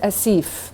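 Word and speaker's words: آسف: if not i heard asif before right so there's no yeah in it it's asif as if acid so long a short e as if as if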